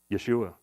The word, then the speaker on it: Yeshua: know what it is Yeshua Yeshua which of course we pronounce or Joshua Jesus or Joshua right um just like the